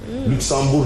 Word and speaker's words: Luxembourg: comme le Luxembourg oui Luxembourg les enfants ne prononcent pas le G à la fin il est il sont